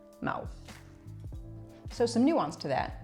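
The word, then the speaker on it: Mahou: Mau. Mau. So the H in Spanish is not pronounced. So it's as if it didn't exist. Mau.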